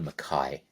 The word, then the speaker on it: McKay: How does he go from McKay to McKay? Does anybody know that? Because it's spelled McKay, but he pronounces it McKay.